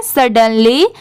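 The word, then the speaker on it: suddenly: ये है सडनली, बहुत सारे लोगों को इसमें भी डिफिकल्टी होती है कि इसे कैसे प्रोनाउंस करें, तो इसे पढ़ते हैं सडनली, SUD, इसकी साउंड सुड नहीं आएगी, इसे सड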